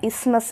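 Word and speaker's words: isthmus: pant of tissues knowing இதை வந்து நம்ம எப்படி ப்ரொனவுன்ஸ் பண்ணோம்னா இஸ்மஸ் அப்படின்னு தான் ப்ரொனவுன்ஸ் பண்ணணும் டிஹெச் வந்து சைலண்ட் ஓகே இஸ்மஸ் அப்படிங்கிற ஒரு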